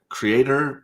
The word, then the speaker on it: Cyrator: It's Creator, but it's spelled Cyrator, right? What? Yeah. Cyrator is.